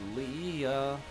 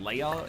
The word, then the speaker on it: Leia: get a bomb again Lea Lea uh it's actually pronounced Leia in the original Skywalker script honors of the George